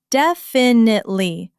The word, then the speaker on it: definitely: The stress is heavy on the very first syllable, definitely. A common mistake is putting the stress on the second syllable, which sounds quite foreign.